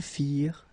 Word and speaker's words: firent: Remember, ending ENT for the plural, you don't pronounce it.